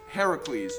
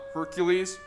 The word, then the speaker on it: Heracles: it happened either but it's heracles not hercules something got lost in